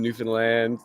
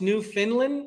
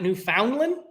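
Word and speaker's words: Newfoundland: for our inspiration uh our good friends in New Finland uh Sheena my wife she has family that way so that's where the inspiration comes from so your first oh y so it's pronounced New Finland new and not New Foundland newfinland newfinland Newland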